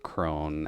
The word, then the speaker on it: Crone: Wrong type of Crohn's. Yeah. Spelled, well, pronounced the same, at least. But this is more so just Crone, as in the Hag Witch, although does meld weirdly similarly to just having Ray of Sickness.